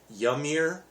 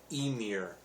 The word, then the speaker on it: Ymir: all the way around emir is spelled ymir so you might think it's uh yummier but it's pronounced emir so um but very